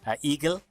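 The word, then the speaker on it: IGEL: just learned this week I think it's supposed to be pronounced eagle since it's German sorry you get technologies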